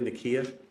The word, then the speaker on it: Nakia: I pronounced that correctly? Nakia? Yeah.